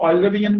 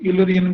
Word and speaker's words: Eulerian: ऑफ ऑयलरियन line और कुछ लोग ऑयलरियन भी बोल देते हैं, कुछ लोग यूलरियन भी बोल देते हैं. प्रोनाउंसिएशन जैसे करना है इंग्लिश में आप कर सकते हैं.